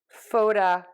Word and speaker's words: photographic: graphi and the I for the graffer and graphi we're going to stress right before that suffix and same thing with the ick we're going to stress right before the I all right let's give